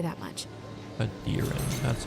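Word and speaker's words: Aedyran: Adiran, that's how you say it.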